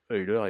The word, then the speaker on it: Euler: Euler, si on le prononce correctement. Parce que Euler était suisse, mais suisse germanophone.